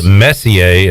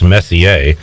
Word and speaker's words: Messier: Now you have, I believe, I'm going to pronounce this Messier, as in Mark Messier. It could be Messier, but I believe it's Messier.